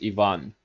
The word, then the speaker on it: Ivan: I just want to say that Ivan is not a Russian name. Russian name is Ivan. It's not I, it's E, and then the main point is on the second syllable.